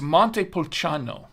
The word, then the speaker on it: Montepulciano: It's Montepulciano. It's how it's pronounced.